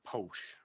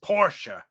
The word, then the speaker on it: Porsche: issue the way we pronounce, we call it Porsche, but it's not Porsche, it's Porsche.